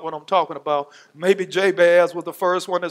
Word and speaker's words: Jabez: The pronunciation of Jabez in the Hebrew, when you pronounce his name, it sounds like pain in the English language.